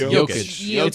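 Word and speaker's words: Jokić: to the finals huh but how do you pronounce the J in his name yovich yovich but for jokic it's it's jokish they're both yo yo they're both young I'm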